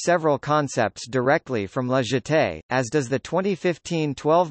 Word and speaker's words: Jetée: La jetée, French pronunciation, jetée, the jetty, here referring